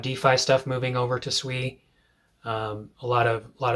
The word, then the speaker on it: Sui: And one of these that I really like is SUI. Um, I've been calling it Sooie for for the longest time.